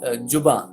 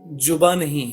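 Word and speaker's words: ज़ुबान: दूसरी चीज अभी किसी ने बोला कि जुबा, जुबा नहीं है, जा नहीं है, दैट इज जा, जुबा, जुबान, जुबान, बा पे ऊपर नून।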